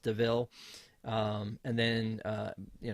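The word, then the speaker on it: De Vil: that uh it's pronounced even though it's spelled devil it's pronounced deville um and then uh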